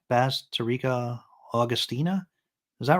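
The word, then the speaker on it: Bazterrica: How do you pronounce her name? Basterica Augustina.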